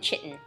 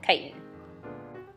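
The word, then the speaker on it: chitin: in potatoes glycogen cellulose and kiten some people pronounce it chitten but I pronounce it kiten what you see in these diagrams are examples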